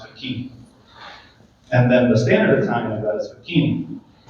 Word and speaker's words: Facchine: So growing up, I was called Facchine, and then at some point, I wanted to reclaim the Italian pronunciation, which is standard is Facchine, but that's way too